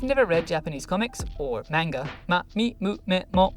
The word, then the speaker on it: manga: read japanese comics or manga manga not manga i've never understood where that strange pronunciation comes from it's almost always in